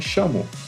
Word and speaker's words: Shamo: O nome é Chamo. Começa com S de sapo. Só isso. Você é como se você fosse escrever chama. Chamo.